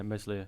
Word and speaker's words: Meslier: Is it Meslier? Is that how we pronounce it? Ilan Meslier. Yeah, Meslier.